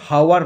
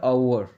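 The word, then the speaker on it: hour: আর এইচ এর উচ্চারণ এইচ ও ইউ আর, এর উচ্চারণ কিন্তু হাওয়ার নয়, এর উচ্চারণটা আওয়ার, তাহলে এখানে বসলো অ্যান আওয়ার লেট।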